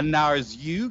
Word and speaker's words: Narzugon: Here, we have got, let me pronounce this correctly, a Narzugon.